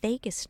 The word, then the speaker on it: vagus: natural antidote and it's called the vagus nerve like it's like the leaving Las Vegas but it's spelled daj